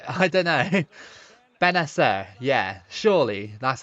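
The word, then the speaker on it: Bennacer: Benacer, yeah, surely that's how you pronounce it.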